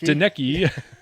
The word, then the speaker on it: Donnecke: Donnecke. Yes, exactly. Nobody even knew how to pronounce her name back then.